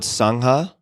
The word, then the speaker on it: Sangha: Some of your current projects include MMTCP, a worldwide mindfulness teacher training, Cloud Sangha, if I'm pronouncing that correctly.